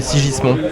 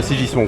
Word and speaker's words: Sigismond: Il voulait m'appeler Sigismond.